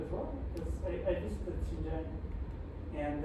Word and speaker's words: Xinjiang: Is any part of that population part of it's pronounced Zhejiang province, with where the Uyghur Muslims are? Xinjiang.